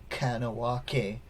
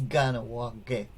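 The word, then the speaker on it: Kahnawà:ke: what i've learned so when you hear these k's uh they're not pronounced they're pronounced more like a g so sometimes you know people who don't know will say kanawake and it's not kind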